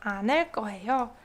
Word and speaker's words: 않을 거예요: It's pronounced 않을 거예요.